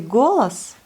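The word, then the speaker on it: голос: Vous voyez, là aussi, on dit golas. On accentue bien le O. On le prononce bien comme le O.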